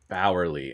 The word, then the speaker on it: Bauerle: Bauerle, and spell that for my listeners there. So that's JustinBauerle. So it's like Eddie Bauer. And then with a Lee at the end.